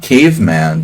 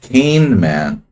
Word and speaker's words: Kahneman: No, not caveman, dude. Kahneman. Not caveman.